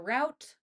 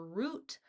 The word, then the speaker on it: route: It's either route or route. Both are correct. Go with whichever one feels more natural to you because it really doesn't matter which one you choose.